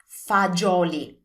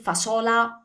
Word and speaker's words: fagioli: So remember, it's a J sound.